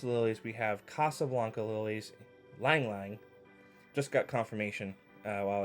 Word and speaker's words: ylang ylang: this is Christmas lilies we have Casablanca lilies ylang ylang just got confirmation while I was filming this of the pronunciation so thank you Shane pink pepper and